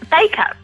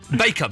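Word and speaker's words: Bacup: Bakeup. Bakeup. Is how you pronounce it?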